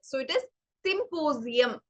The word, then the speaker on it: symposium: ചില വേർഡ്സിൽ ഇടയിൽ എസ് വരുമ്പോ we pronounce it as the sound of Z, the 26th alphabet. So it is symposium.